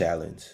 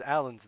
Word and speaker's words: Allen: I didn't know his last name was Allens, though. Yeah, there's 2 of them. Yeah. Easy one. Hey, why come you don't pronounce it that way? Because there's no S at the end of it.